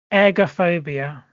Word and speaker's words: ergophobia: Ergophobia, and it's not eggs. Ergophobia is if I'm pronouncing this air, so ergophobia. Fear of breathing. Nope. Fear of that wasn't a hint. That wasn't a hint. I'm just saying how I was pronouncing it, not egg.